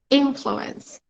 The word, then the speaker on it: influence: life okay so here influence influence the stress is on the first syllable okay so childhood experiences